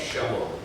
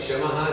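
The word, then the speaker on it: शमः: Now what is the meaning of Shama? Those who are from South India, they pronounce every word with a akar, not akar. So instead of Shamaha, they say Shama.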